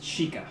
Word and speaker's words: Sheikah: How do you pronounce it again? It's Sheikah.